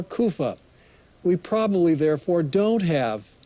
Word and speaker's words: Caiaphas: it's probably Caiaphas however that last name probably shouldn't be pronounced cayapha it's probably Kofa or kufa we probably therefore don't